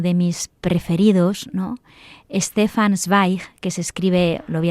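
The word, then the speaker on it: Zweig: Stefan Sweig, que se escribe, lo voy a deleterar porque es muy sencillo. Z W E I G. Z W E y G. E, bueno, Stefan Schweig es un grandísimo escritor, narrador y escribe muchas biografías.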